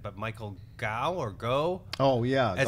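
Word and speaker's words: Gough: And you had, I don't know exactly how to pronounce his name, but Michael Gow or Go? Oh, yeah. As Goff.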